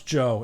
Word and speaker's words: Djo: No, it's Joe. It's the D is silent, obviously.